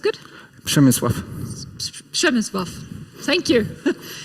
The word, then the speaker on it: Przemysław: Was it pronounced good? Przemysław.